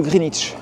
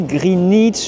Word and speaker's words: Greenwich: Alors tout d'abord, je ne sais pas si vous avez remarqué, mais déjà au niveau de la prononciation du quartier, en tout cas du nom du quartier. Je dis Greenwich Village, pas Greenwich Village, même si j'ai un W.